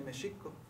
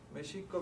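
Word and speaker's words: Mēxihco: porque acaba en co entonces en en ag se dice meico meico viene las raíces ch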